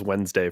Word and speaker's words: Wednesday: The D's before the N, and everybody says Wednesday for some reason.